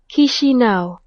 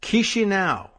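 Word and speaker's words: Chișinău: Chisinau. Chisinau. Like, what would you like to eat? Chisinau.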